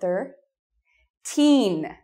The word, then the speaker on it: thirteen: So the first part, thir. Teen.